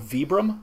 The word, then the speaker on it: Vibram: It's just like, it's like Vibram soles that you put, you know, so like the Vibram lug soles on work boots. Ugh, we just did a video on this. It's actually called Vibram.